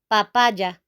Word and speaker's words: papaya: exactly the same okay in English you say Papaya papaya okay in Spanish you have to say papaya papaja papaja okay this will be the